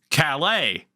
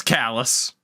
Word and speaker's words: Calais: the name of this which in France is pronounced Calais how do you think we pronounce it in Maine it's kallus this